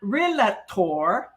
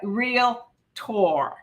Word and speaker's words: realtor: are a real tour it's a two-syllable word real and tor not relator okay but real tor so learn to pronounce